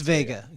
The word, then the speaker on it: Veiga: It's Veiga. It's Veiga.